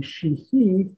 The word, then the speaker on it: Sheehy: The Irish pronunciation would be Sheehy.